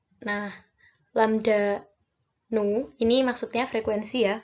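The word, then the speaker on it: ν: Nah, lambda nu, ini maksudnya frekuensi ya, V yang ini. Nu itu sih bacanya.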